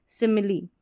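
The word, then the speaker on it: simile: और यह है सिमिली। क्या है? सिमिली। अब इसको स्माइल ना पड़े।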